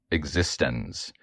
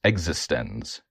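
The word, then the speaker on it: eXistenZ: Um, and then my second movie I chose, Existence. No, it's actually pronounced existens by David Croninberg, for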